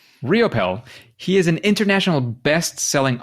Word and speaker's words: Riopel: only because you said so so Robert Raymond ropel riopel how do you pronounce that one you got it on the second one riopel riopel he is an international bestselling author app designer